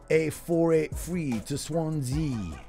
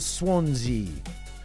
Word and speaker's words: Swansea: So it is the M4, A483 to Swansea. It rhymes with chimpanzee. A483, I ride a chimpanzee down to Swansea.